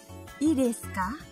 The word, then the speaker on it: いいですか: Pengucapannya seperti ini. いいですか? いいですか?